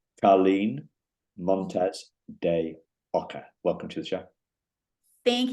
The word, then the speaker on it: Carlyn Montes De Oca: I've got to pronounce this correctly. Carlyn Montes De Oca.